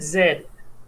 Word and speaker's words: zed: that she got right she said zed that is the correct pronunciation of the final level well all i